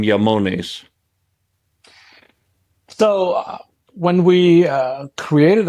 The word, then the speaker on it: IAMONES: comes from the remote and that's why the pronunciation is yamon and um why that name not just because